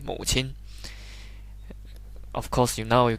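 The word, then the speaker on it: 母亲: say fuchin it's just say mother you say mo chin of course you know you can say baba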